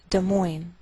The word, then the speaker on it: Des Moines: Note that we treat the name of this capital like one word, and the greater stress is on the second part, so we say Des Moines, Iowa.